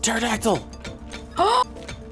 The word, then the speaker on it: pterodactyl: It's a pterodactyl! Yes! A pterodactyl! But the P is silent, Mutt.